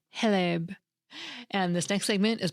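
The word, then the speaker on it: хлеб: Apparently, the X is pronounced like an H, so it's more like Heleb.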